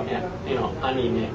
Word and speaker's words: anime: so like anime, but it's the I, so anime. Right, the A as well. It's not anime, it's a.